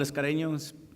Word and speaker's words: Escareño: I'm Escareño, spelled with one R, pronounced with two, also known as Mr.